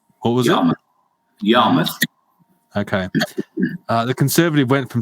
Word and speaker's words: Yarmouth: If I pronounce it wrong, what was it? Yarmouth.